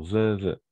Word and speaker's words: vœux: On prononce de la même façon, vœux.